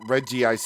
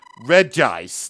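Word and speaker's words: Regice: or well, I guess I can't really count Reggi ice anymore because it's it's apparently pronounced re ice, not reggi ice.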